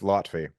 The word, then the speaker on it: Loutfy: You were close though. It's Loutfy. But Loutfy, everyone okay. everyone Thank pronounces you. it Loutfy, so you're normal. You're in the same boat as everyone who reads it.